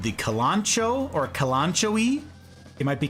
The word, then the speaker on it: Kalanchoe: It's pronounced Kalanchoe.